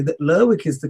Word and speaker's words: Lerwick: So I would say that Lerwick is the correct pronunciation, being that it's a town that pronounces the people of the town pronounce the name like that.